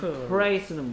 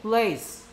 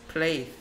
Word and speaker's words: place: price는 뭔 price야? place. place.